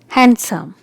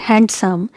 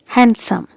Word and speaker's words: handsome: it's sandwich sandwich it's handsome so here letter d is silent so it's not handsome it's handsome handsome okay and here